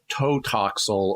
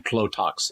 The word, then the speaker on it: Tlotoxl: Which for some reason the actors can't pronounce consistently. Yeah, I'm not surprised. I heard them saying at various times Totoxl or Lotoxl. They had trouble saying Tlotoxl.